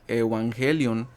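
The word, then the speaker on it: εὐαγγέλιον: evangelio viene del strong griego 2098 Okay que se pronuncia evangelion Okay de lo mismo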